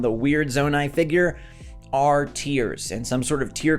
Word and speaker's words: Tears: Anyways, Nintendo themselves say that it is tears, as in crying, all right? They officially say that that's how you say it, and that is going